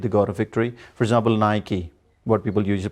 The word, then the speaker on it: Nike: of sport things but the word is wrongly mispronounced that is nike it should be nike so we say nike we don't say nike and what about adidas like nike you're right